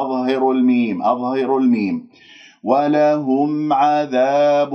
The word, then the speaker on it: عذاب: ولهم عذاب، لا تقل عذاب عذاب هكذا بابتسامة في الشفاه وتسحب اللسان إلى الخلف وتجعلهم منبسط، اللسان مرتاح، لا لا، بس مجرد شوفوا اللسان كيف نايم مرتاح، لا تعملوا أي شيء.